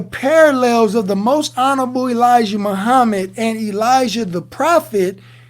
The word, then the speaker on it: Elijah: And get this, in Hebrew, in Aramaic, Elijah is pronounced Ilia.